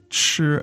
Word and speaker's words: 吃: Could you just contrast maybe with the syllable 吃, go through the 4 tones, how it would sound?